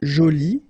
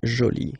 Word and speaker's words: jolie: get Jolie okay so you can see that you put this but then you don't pronounce it okay so it's Jolie so basically the two